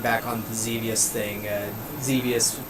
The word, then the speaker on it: Xevious: Azrael, getting back on the Xevious thing, Xevious was to rhyme with devious, and so I think